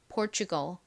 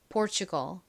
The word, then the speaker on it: Portugal: 포르투갈이 아니라 실제 미국식 원어 발음으로는 Portugal, Portugal 이렇게 발음합니다.